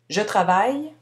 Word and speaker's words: travaille: ajoute la bonne terminaison attention la prononciation je travaille le final est muet du travail il travaille